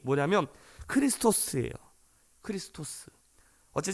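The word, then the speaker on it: Χριστός: 그런데 우리가 그리스도 우리가 예수 그리스도를 뜻하는이 헬라어 발음이 뭐냐면 크리스토스예요 크리스토스 어제 좀 비슷하지 않습니까이 그리스도라는 이름의 뜻이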